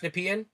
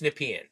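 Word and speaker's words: Nepean: So NP pronouncing it correctly. It's Nepian. Nepian is in Ottawa. That's where he's that's where Carney's running and and Nap is near Kingston. Thank you. It's Nepian.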